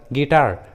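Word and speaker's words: guitar: उसी तरह गिटार, guidance. देखिए दोनों इंग्लिश वर्ड्स में यू जी के बाद है और वॉवेल आई के पहले है, इसलिए रूल के अनुसार यू का उच्चारण नहीं किया गया है, गिटार एंड गाइडेंस।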